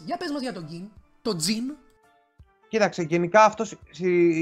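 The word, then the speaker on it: Ging: Συγκεκριμένα θα κάνω μια ελάχιστη αναφορά στον πατέρα του Γκον, τον Γκιν. Ή Τζιν, όπως τον λένε στη σειρά. Γιατί οι Ιάπωνες το G το προφέρουν σαν J.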